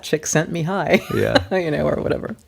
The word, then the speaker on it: Csikszentmihalyi: well that's how you you can't spell it but you can know how to pronounce it chick that chick Mihai yeah you know or